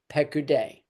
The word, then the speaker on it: Piqudei: If I was writing this for your notes, I would spell it P-E-Q, Pek, U-D-E-I, Piqudei.